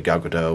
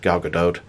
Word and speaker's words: Gal Gadot: name it's actually pronounced Gal Gadot at least that's my American Boy of pronouncing it but you do pronounce a t one reason I'm saying